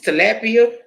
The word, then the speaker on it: tilapia: do a little turkey burger why are you pronounce it it's tilapia Oh what I ain't gonna hear it so